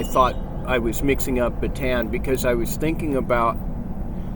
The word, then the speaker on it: Bataan: But one of the worst things that ever happened when the Japanese were there, it's pronounced here Bataan, but Bataan Death March. They pronounce it Bataan, and which is the proper way.